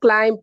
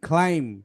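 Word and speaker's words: climb: হ্যাঁ হ্যাঁ, এম এর বিটা উচ্চারণ হবে না, বিটা সাইলেন্ট হবে ওখানে।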